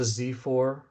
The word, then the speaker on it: Xiphor: We had one to Zifor, which is spelled Xiphor, and they are the god of That sounds like justice.